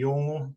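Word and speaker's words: Yolŋu: Yeah, so the people of Northeast Arnhem Land are called the Yolngu people. Yolngu. So it's a difficult word to pronounce, and it said Yolngu.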